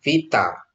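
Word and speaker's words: βήτα: Vita ya, Vita ya, bukan B.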